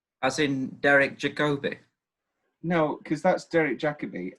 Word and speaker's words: Jacobi: I believe that in America it's pronounced with the more Jacobi. Oh, like I know that it's Derek Jacobi. Yeah. I believe in America. You sure? Yes, I do. They like to emphasize the first syllable in America.